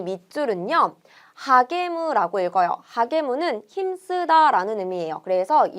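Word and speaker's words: 励む: 하게무라고 읽어요.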